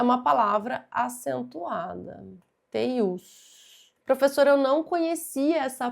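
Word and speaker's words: teiú: Teius. Professora, eu não conhecia essa palavra, não sabia que se tratava de uma palavra oxítona, não sabia que a pronúncia era essa, teiu, teius.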